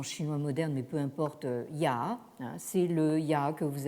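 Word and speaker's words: 亚: vous avez ici sur la diapositive, qui se prononce en chinois moderne, mais peu importe, ya.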